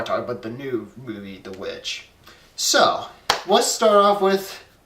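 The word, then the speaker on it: The VVitch: the new horror film known as The Witch, or The Vitch, as it's spelled out. It's spelled like two V's. It's kind of weird, but it's The Witch, nonetheless.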